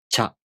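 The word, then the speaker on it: ちゃ: Cha. Cha, chu, cho. Cha, chu, cho. Cha, chu, cho. Let's practice pronouncing cha, chu, cho using some real words.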